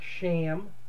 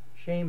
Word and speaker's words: Shem: We're talking about Shem, which is actually pronounced more like Sham or Shame. Shame is actually the best pronunciation of it.